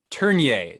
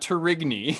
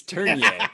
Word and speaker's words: Tourigny: And that is that you have a new coach, and that is Andre Tourigny, not Tourigny. It's Tourigny. At least that's how you pronounced it.